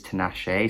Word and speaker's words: Tinashe: to nashee's name correctly i always thought it was to nash but it is tenache so i do apologize